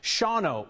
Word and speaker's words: Shawano: Like Mike Bishop, who wrote in tonight to say that I mispronounced the name of the town in Wisconsin. It's Shawano, Wisconsin.